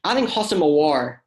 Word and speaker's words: Houssem Aouar: But I think Houssem Aouar, and I actually did say his name correctly.